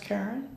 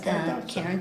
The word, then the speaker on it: Carin: I had thought about it anyhow, but you said doing business as, and is that still pronounced Karen? Yes, Karen.